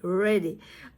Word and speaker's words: ready: Ready. Okay. I have to be careful about R sound, because this ready, this word ready begins with the letter R, right?